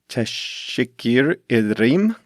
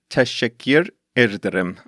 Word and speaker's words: teşekkür ederim: to say thank you, or should I say teşekkür ederim, to Metin and Seville, who helped me with the pronunciation of Turkish names in this episode. I have to try that again. I think it's teşekkür ederim.